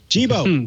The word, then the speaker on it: Jibo: I think Burke knows how it's pronounced. Jibo. Jibo.